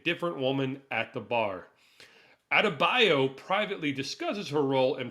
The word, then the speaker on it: Adebayo: Mern, Amelia Harcourt, John Economos, and newcomer Leota Adabo, sorry. Out of bio. Adebayo. Oh man, I'm so sorry. I butchered that last name there.